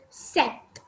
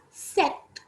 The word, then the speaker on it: sept: short form of september s-e-p-t which is set we say it as set then we have eight